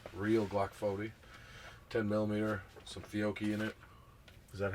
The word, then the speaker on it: Fiocchi: I got to shoot a 10mm Glock 40, real Glock 40, 10mm, some Fiocchi in it. Is that how you pronounce it? Fiocchi?